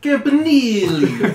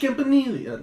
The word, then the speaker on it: Campanile: You gotta say it like Either Italian. way. You gotta go Campanile. You know, that's why I'm gonna be like, "Hey, Coach Campanile."